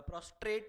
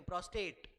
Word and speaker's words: prostate: Book में देख लो spelling, book में देखो, what is that, प्रोस्टेट, प्रोस्ट्रेट नहीं होगा, that are should not have been there, वो स्पेलिंग एरर है।